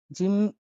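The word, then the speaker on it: جيم: পরবর্তী শব্দটি হলো জিম। জিম উচ্চারণ হয়ে থাকে জ এর মতো।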